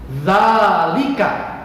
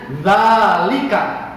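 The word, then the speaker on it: ذلك: Zalika. Dengarkan cara bacanya, zalika.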